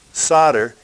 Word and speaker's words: solder: some solder it's pronounced solder even though it's spelled with an L and a speaker I'm